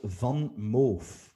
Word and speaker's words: VanMoof: I'm gonna name a company from the Netherlands again, my neighboring country, It's a company that sells bicycles, and it's called Van Moof. You spell that as VANMOOF.